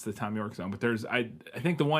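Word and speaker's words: Thom Yorke: Okay, it is just Tom York. Tom York, All right.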